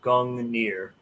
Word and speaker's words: Gungnir: the correct uh pronunciation oh yeah it's a gong near yeah i'll spell it out in the chat i'm over here